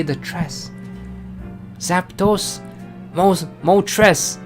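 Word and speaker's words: Moltres: Mo tres. It's not mo tray, it's mo tres.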